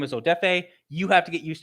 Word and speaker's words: Odafe: no we're not doing that my name is odefe you have to get used to pronouncing it i don't care anymore i respect